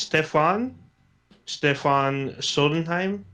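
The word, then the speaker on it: Stephen Sondheim: I believe it's pronounced Stefan Sodenheim.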